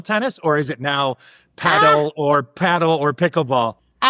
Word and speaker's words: padel: I think it's I always say paddle. I think it's padell is the way that they pronounce it.